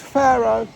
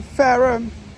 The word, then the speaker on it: Fareham: announcements, I feel that it sounds like she's pronouncing this place as Faro, and we're in Fareham.